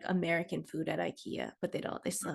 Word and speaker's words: IKEA: and by the way they don't say ikea the correct way to say it is ikea wow yeah that changes